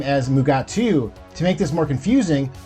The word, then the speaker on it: Mugato: 2nd season of Star Trek Lower Decks, titled Mugato Gumato.